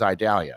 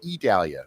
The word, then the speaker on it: Idalia: The one that unfortunately we do have to worry about is Idalia or Idalia. I've heard it pronounced both ways.